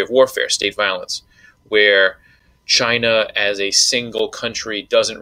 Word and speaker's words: Qin: In in the Chinese uh pinion derivative where we learn Chinese through uh Latin alphabet, the Q is pronounced with a ch. So this is Chin.